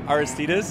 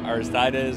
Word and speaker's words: Aristides: Like, Aristides is what we say, but a lot of people say Aristides or Aristides or even titties, which is easier for our clients.